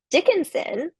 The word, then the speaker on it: Dickinson: Dickinson, on the other hand, which is also 3 syllables, all the syllables receive a similar level of stress. So I've labeled them as unstressed syllables, Dickinson, right? Our voice isn't really emphasizing one over the other.